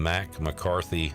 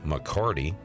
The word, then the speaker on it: McCarty: Don't call him Mac. McCarty. Oh no, where is Morikawa?